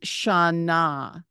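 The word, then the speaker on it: שנה: on the right the first word is shaana shaa with a silent ha on the end sha means year the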